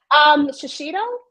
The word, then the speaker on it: Shiseido: Shiseido?